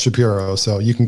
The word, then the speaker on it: Shapiro: interview with Ben shap pyro on the Ben shapy show shapir I call it shapir you call him Shapiro I call him shapy see we're different well his name is pronounced Shapiro so you can call him whatever you want